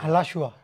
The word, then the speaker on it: Alachua: Alachua. Alachua. Sure, you're Cuban. You have better pronunciation than me.